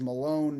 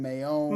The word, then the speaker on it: Maione: years and it was Malone, Maione. Malone? There's no L.